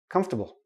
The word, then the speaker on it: comfortable: a small tiny tiny little I in their comfortable come stop bull comfortable okay we don't pronounce the or comfortable nope don't do that